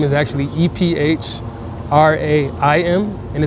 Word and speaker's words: Ephraim: Okay, so my given name is actually E P H R A I M and it's like E frame uh Ephraim.